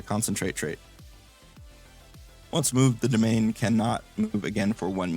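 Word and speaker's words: demesne: ability or domain it's it's spelled funny it's a French word I think but it's pronounced domain uh which allows him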